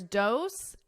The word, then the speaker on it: dose: So here, dose and rose have the exact same vowel sound. It's that O, but the SE is pronounced differently. Dose with an S, rose. Z, z. So you hear a Z, a buzzing because it's a voiced sound.